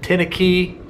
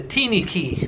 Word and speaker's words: teeny key: I called it a tinny key. They pronounce it the teeny key because it's so small.